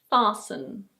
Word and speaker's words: fasten: Here are a couple of words with a silent T. In British English this word is: fasten. Fasten. In American English it's: fasten. Fasten.